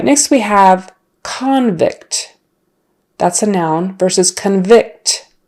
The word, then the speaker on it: convict: verb often has a stress on the second syllable as in convict so convict means a person who's in jail he's been convicted or she and they're a criminal convict convict since the first syllable is not stressed anymore that vowel kind of turns into a schwa a convict convict the